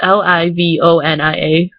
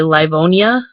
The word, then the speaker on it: Livonia: dwajak like that's just kind of how we pronounce it in livonia um it's pronoun it's l-i-v-o-n-i-a which most people would probably say livonia which we don't we say livonia like it's